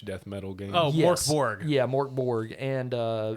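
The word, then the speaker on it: Mörk Borg: metal game oh yeah mork borg and uh it's actually pronounced mirkborg american beer but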